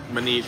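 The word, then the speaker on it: Maneet: Manit is M-A-N-E-E-T. Manit Chauhan.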